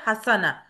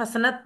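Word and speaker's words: حسنة: बार आया है हसना हसन का मुन्नस है हसना भलाई हसना वैसे तो इसको हम हसनत भी पढ़ते हैं लेकिन एक्चुअली अरबी की जब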